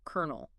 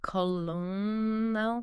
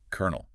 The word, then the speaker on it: colonel: guess coral or maybe colonel. Something like that. Seems logical, but the actual standard pronunciation is, drum roll please, kernel.